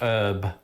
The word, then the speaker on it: herb: There was a slew of words that entered the English language via Old French that incorporated a silent H. This included honour, hour, hors d'oeuvre, and yes, herb.